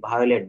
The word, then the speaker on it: violet: আই ও এর উচ্চারণ সাধারণত আই হয়, আই ও এর উচ্চারণ সাধারণত আই হয়। যেমন ভাইওলেট, VIOLET, ভায়োলেট, বেগুনি রং।